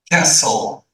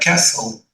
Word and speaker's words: castle: pool, daughter, garden, favorite, castle, T silent, castle.